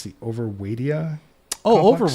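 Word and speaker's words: Overwaitea: And then we moved to, I'm going to mispronounce this, I think it's the Overwaidia Oh, complex. Overweighty.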